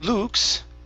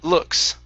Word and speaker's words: looks: is the word looks instead of lu luke's it's an uh sound looks okay good and next is